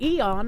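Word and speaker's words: aeon: If you see the AE together, you tend to do an A sound and ignore the E. Same same. That's how I do it. Uh let's see here. Grochathy here to clear this up. Cool smiley face. Aon and eon are pronounced exactly the same.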